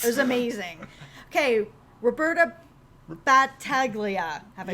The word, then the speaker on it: Battaglia: Okay, Roberta Battaglia.